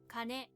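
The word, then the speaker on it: 金: Kane. Kane, gold or money. Kane, kana for konyomi, and kin or kon for onyomi, written with 8 strokes.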